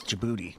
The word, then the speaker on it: Djibouti: Is that how you pronounce that? Djibouti. Yeah, it is. Djibouti under health hazards and threat of rocket attacks